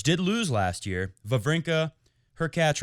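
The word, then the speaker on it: Hurkacz: lose last year vavrinka her cat rhymes with latch and uh big kevin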